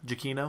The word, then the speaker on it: Giacchino: But, or Michael, I don't know how to pronounce his last name. Giacchino?